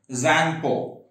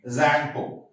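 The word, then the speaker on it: Tsangpo: Zangpo. T is silent. Okay, Zangpo.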